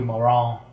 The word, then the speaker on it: Marant: says Paris-based fashion designer Isabelle Marant, or probably Marant, because the French for some reason don't pronounce T's.